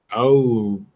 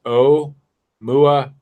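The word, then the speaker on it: ʻOumuamua: Considering the artificial origin, one possibility is Aumumama. Is that how that's pronounced? Oh, absolutely. I don't know, but it's pronounced origin. Yeah. They give me the pronunciation right here. Pronounced Oumuamua.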